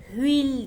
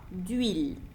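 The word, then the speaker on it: de l'huile: aşm müe dediğimiz eee telaffuz edilmeyen e bir h harfi ile başladığı için bakın hil demiyorum zaten telaffuz da daha zor oluyor. Bunu kolaylaştırmak adına telaffuz etmiyoruz. Ül bağlayarak okuduğumda dil şeklinde.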